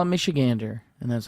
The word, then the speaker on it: Michigander: They write Michiganer, but it's gander. It's gander, baby.